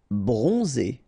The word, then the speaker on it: bronze: pronounced okay rei bronze so O N and then zed so we pronounce pronounced like Z bronze bronze okay so final is not pronounced okay remember when we